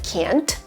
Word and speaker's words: can: My favorite example is with can and can't. I can do this. And when it comes to can versus can't, it's all about the stress in the sentence.